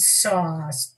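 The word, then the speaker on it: Sau: And with each exhalation, mentally repeat Sa, pronounced like the tool, the saw, it's spelled S-A-U.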